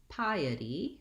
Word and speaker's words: piety: be the word piety that's piety piety we have three syllables in piety and we have first syllable stress so the pie syllable is dressed it's just like the word pie like the baked good pie and then the the